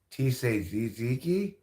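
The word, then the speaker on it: tzatziki: I do I do yeah well t tziki T say ziki that's how you pronounce that it seems like a hard thing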